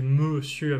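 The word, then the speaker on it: messieurs: donc évidemment au singulier la prononciation c'est mesieur avec le Son e mais la logique est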